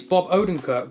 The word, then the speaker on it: Bob Odenkirk: i went to watch bob odenkirk sorry i don't think that's how you pronounce his name bear with me one second it is bob odenko blimey i got a